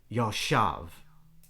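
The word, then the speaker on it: ישב: Yashav is the word. A little two-syllable, tiny little word.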